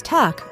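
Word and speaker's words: takk: Hello in Iceland pronounces halo, thank you is tak, or goodbye is bless.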